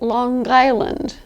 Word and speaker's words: Long Island: Long Island pronounce it Long Island they do pronounce that final G that is a dialectical